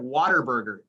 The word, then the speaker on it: Whataburger: It's my least favorite thing about Texas, that they mispronounce the word what when it comes to Whataburger.